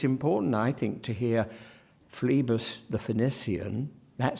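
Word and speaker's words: Phlebas: the first syllable there fleebus not Flay bass for instance fleebus and Phoenician Phoenician not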